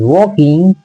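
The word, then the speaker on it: walking: अलोंग the road देखो वकिंग य प एल साइलेंट है य वाकिंग लोग पढ़ते हैं लेकिन वाकिंग वकिंग है कि के के साथ एल होता है तो वो साइलेंट होता है तो हु वाज वाकिंग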